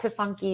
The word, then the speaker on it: Pysanky: So if you look up Pisanki, it's spelled Pysanky, and I have a chapter about it in my book.